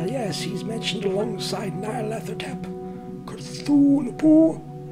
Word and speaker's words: Cthulhu: Cthulhu. That's how it's pronounced, Cthulhu.